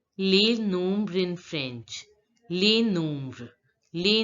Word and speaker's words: les nombres: I told you before also that in French, generally the last letter of the word is not pronounced. So in case of les, the last letter of the word S is not pronounced. And in this word nombre, the last letter of the word S is not pronounced. So we pronounce it as les nombres.